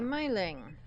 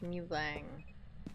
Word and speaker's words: Myling: Right, so we have a myling. Or I think it's supposed to be pronounced mulang.